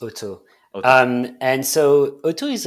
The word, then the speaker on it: OTO: that company sure um auto is is pronounced otto um and so otto